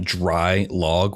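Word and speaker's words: Draailaag: actually opened in 2011 under the name dry log which is spelled d-r-a-a-i-l-a-a-g which i believe is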